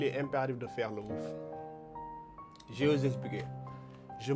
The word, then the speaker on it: woof: W-O-L-F. C'est comme ça qu'on écrit ça, mais on prononce ça woof. W-O-U-F. Il ne faut pas changer les termes, c'est le woof.